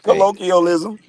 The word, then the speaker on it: colonialism: what is he saying no it's colonialism that's the right word but he had